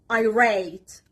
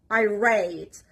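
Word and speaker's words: irate: born blind and help helpless next word is I rate I rate first ver is on the letter R and the second syllable of this word iate so filling by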